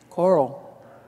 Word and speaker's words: coral: you say core raw coral i'm getting kind of an amalgamation of one fat syllable can you say an l coral yes coral side story my father